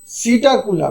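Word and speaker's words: Psittacula: कोलबा कोलबा मतलब पिजन सीटा कुला पी लिखा हुआ है साइलेंट हो जाएगा सीटा कुला पैरेट टू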